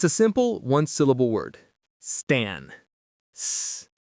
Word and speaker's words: stan: Stan. St. T. A. Stan. It rhymes with fan or plan, which is very fitting.